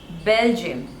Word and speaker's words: Belgium: one Bahrain Bahrain Bahrain next one is Belgium Belgium so again there are two sleepers and the stress is on the first level Bell gym Belgium Belgium